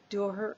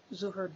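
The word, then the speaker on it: Dhuhr: There is the midday or Duhr or Zuhr, depending on your pronunciation. I probably screw up both of them, but that's okay.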